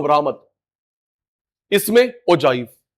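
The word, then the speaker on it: ogive: है, तू ठीक बोलियो ओजाइव। वो अपनी गलती समझ जाएगा, वो ठीक फिर प्रोनाउंसिएशन होगा उसका। मैम सर आप गलत बोल रहे हो, इसको ओगिव नहीं बोलते ओजाइव बोलते, ऐसे करोगे ऑफेंडेड फील करेगा।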